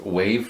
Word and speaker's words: WAV: This board accepts, it's WAV, I guess that's pronounced wave files, and OGG files.